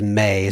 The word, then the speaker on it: med: signature is in norwegian it reads med which in parentheses says may so i guess you pronounce it may may and then then